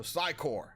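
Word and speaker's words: Psi Corps: I used to say Psycorps, but the PS is silent. I finally learned that.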